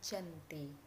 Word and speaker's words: Janti: lokasi penandatangan perjanjian yakni di desa Janti dalam pelafalan Belanda Oh iya tersebut sebagai Giyanti dan secara tertulis ia terbaca sebagai Giyanti di tempat tersebut sekarang